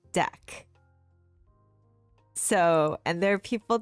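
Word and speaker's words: deque: So that actually makes sense why it would be deck versus D E Q U E U E. Okay. So we're talking about two different things. So, I'm talking about a deck which is double-ended Q. I'm not talking about DQing an item in an array. Google says it's pronounced deck.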